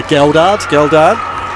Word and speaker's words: Geldard: It is a hard G. So Geldard.